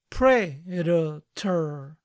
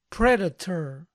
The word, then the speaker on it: Predator: película lo pueden pronunciar Predator Predator Predator sin embargo la gran mayoría va a suavizar la t y se va a